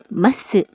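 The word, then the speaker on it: ます: Tulisannya masu, tapi dibacanya mas. Karena pengucapan u dalam bahasa Jepang lemah.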